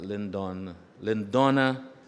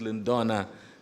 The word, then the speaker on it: Lindona: Lindona Telesford. I always pronounce the name Lindon, right? But it's Lindona Telesford.